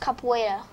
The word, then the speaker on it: capoeira: That's the way it's spelled, but it's actually pronounced capoeira.